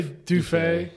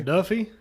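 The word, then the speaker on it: Duffié: Am I pronouncing? I say Dufet. Duet. Dufet. Yeah. Okay. Duffy. You could say I'll say I'll say Dufet. I'll try to say Dufet.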